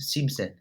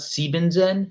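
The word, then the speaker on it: siebzehn: exception it seems it seems in so for 17 and 70 it's not see Ben Zen or Seon zig it seems it and seems in so just keep no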